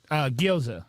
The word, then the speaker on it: gyoza: And then the birria, how do you pronounce that second word? Gyoza.